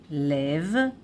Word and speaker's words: לב: So, lev, lev, lev, with tseire here. Lev is singular, masculine. And plural, though it is vav and taf here, it is masculine, plural, levavot, levavot, levavot, lev, levavot.